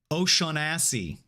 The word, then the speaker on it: Oseanacy: Oseanacy. That's my yeah, thanks for the proper pronunciation there. That's how it's spelled phonetically.